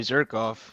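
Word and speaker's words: Zhirkov: I'm thinking Yuri Zirkov, just because his name rhymes with Jerkov.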